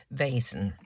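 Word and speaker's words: Vaessen: is um a basin i think you pronounce it v-a-e-s-e-n vasen and this one is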